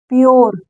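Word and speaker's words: pure: पढ़ेंगे ठीक है सॉरी अगर किसी वर्ड में यू के बाद आर आए तो उस यू को सॉरी इस आर को नहीं इस यू को हम पढ़ेंगे ओ देखिए कैसे यहां पर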